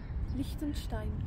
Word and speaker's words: Liechtenstein: What is the pronunciation exactly of this country? Liechtenstein. Liechtenstein.